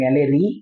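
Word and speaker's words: malariae: তো 4 রকম জীবাণু মানে 4টা প্রজাতি আছে, প্লাজমোডিয়াম ভাইভ্যাক্স, প্লাজমোডিয়াম ম্যালেরি, উচ্চারণ ম্যালেরি আসলে, তারপর প্লাজমোডিয়াম ওভালি, প্লাজমোডিয়াম ফ্যালসিপ্যারাম।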